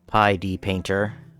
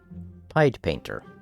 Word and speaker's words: Pied Painter: what I've been calling Pi D Painter. Apparently, it's supposed to be pronounced Pied Painter, like the Pied Piper.